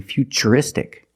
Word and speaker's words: futuristic: And we see T-U-R-I in futuristic. Again, the T is pronounced with the ch sound.